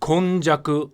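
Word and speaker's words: 今昔: And the two main characters, Ima and Mukashi, can also be read with the Japaneseified version of the original Chinese pronunciation, Kon and Jaku.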